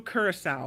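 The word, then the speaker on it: curaçao: It's solely strawberry vodka blended with pineapple juice, cream of coconut, strawberry puree, and blue curacao. Is that how you say that? Curacao is how you say it.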